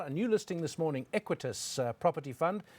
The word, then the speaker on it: Equites: new listing this morning equities property fund we've been pronouncing it wrongly and we apologize for that we were saying it quite equitas listed on the jse